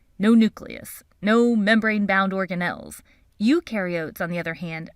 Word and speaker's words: eukaryote: nucleus no membrane-bound organelles eukaryotes on the other hand remember you rhymes with dew and they do have